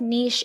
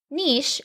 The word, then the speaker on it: niche: And if so, what type of niche is best? I'm sharing all of this and more, so let's dive in. Niche or niche, depending on where you're from and how you say it, has become a buzzword in our industry.